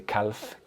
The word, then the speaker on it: calf: Um, do not pronounce the L. You don't say calf. Calf. No. Cal.